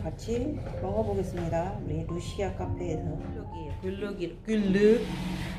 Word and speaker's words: Glögg: 글루기 발음이 꼭 잘못하면 양파로 되는데. 자, 글루기라고.